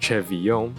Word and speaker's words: CeVIO: CeVIO, pronounced CeVIO, has been gaining plenty of recognition in the vocal synth community due to its recent voice bank releases.